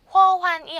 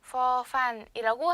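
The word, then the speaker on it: ฟ ฟัน: 그래서 허환이 아니라 F 발음을 섞어줘서 퍼반, 퍼반이라고 해주시면 될 것 같아요.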